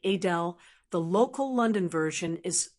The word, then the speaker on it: Adele: It's more like Adele with a softer and slightly more British-sounding twist. So while most people say Adele, the local London version is Adele, and she loves when people get it right.